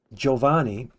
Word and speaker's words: Giovanni: For example, uh think of Italian words, uh names like Giovanni has a GI, so it's pronounced J.